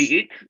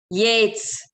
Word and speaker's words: Yeats: How do you pronounce it? Yeats? Let me hear. W.B. Yeats? Yates. Oh, Yeats. Okay.